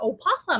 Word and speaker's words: opossum: it's an old possum make sure and put the o in there i never say it right because everybody calls them a possum without the o but that's incorrect um so possums without